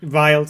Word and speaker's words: Relide: Huggy or Relide, how you want to pronounce that? Riled, thank you.